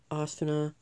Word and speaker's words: Asuna: But for right now, here's how you pronounce the names. There's Kirito, Asuna, Egil, Klein, Premier, Strea, Yui, and you can't